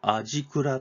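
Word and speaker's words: 味蔵: 高浜市にある味蔵と読みますねこちら中華屋さん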